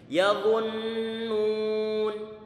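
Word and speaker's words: يظنون: Ini dha-nya dia dimonyongkan. Kemudian ana tarik kembali. Nanti ana jelaskan kenapa ditarik kembali. Kemudian setelah itu dimonyongkan lagi.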